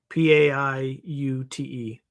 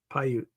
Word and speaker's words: Paiute: Paiute is, I'm going to spell it phonetically like I would in the military. Papa, Alpha, India, Uniform, Tango, Echo. Paiute. Paiute.